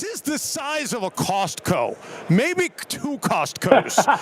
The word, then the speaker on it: Costco: it the right way there's a t you have to pronounce the T Costco yeah it's like